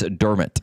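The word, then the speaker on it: Dermott: thought and um dermit der dermit sorry her correcting us on the name pronunciation Travis dermit it doesn't matter how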